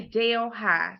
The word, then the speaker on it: Delhi: it's New Delhi but it's spelled the exact same way d e LH I but we say Dale High so maybe that's just